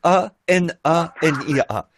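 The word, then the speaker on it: Hanania: Anania, je pense que ça doit se prononcer comme ça. H A N A N I A.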